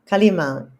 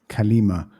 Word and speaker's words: Kalima: Kalima. Kalima.